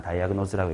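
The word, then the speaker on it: diagnose: 디아그노스인지 다이아그노스인지 발음은 정확히 몰라. 난 다이아그노즈라고 읽습니다.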